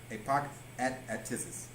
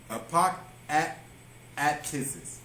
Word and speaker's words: apokatastasis: So it's like you're almost saying apok. So apok atisis. Apok atisis.